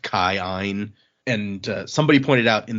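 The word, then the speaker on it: Kiin: of Aeons and so you say kind of both of the Aeon sounds which is why when we read like k-i-i-n is Keen it's actually like pronounced Kyan and somebody pointed out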